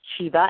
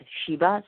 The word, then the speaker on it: Chiba: And, of course, Chiba, as he said, and that's spelled C-H-I-B-A, and Stearns, S-T-E-A-R-N-S.